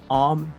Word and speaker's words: Aom: from Thailand so uh my name is om it's kind of hard to pronounce but that's how you pronounce it so basically I am